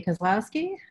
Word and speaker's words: Kozlowski: No problem, it's pretty phonemic. I don't know, a lot of people have trouble with it, but it sounds like it's spelled. Anyway, hi everybody, I'm Dorothy Kozlowski, and let me go